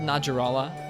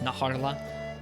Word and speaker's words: Najarala: I've always said Najarala. I've heard some people say it's Najarla. I don't know how to pronounce it really, but that's what we're going to be hunting today.